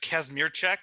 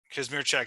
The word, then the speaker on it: Kazmierczak: don't say it wrong uh kasmir check or Casimir Zack are both fine okay Kashmir check is the proper polish pronunciation and then do you have uh kasmir Zack which is the Americanized pronunciation I think I was